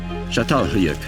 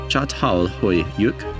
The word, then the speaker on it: Çatalhöyük: Çatalhöyük. This structure, pronounced as Çatalhöyük, is located in southern Turkey.